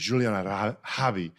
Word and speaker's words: Juliana: And just for those listening, the correct pronunciation of her name is Juliana, which I learned from her LinkedIn, but she's spelling it out.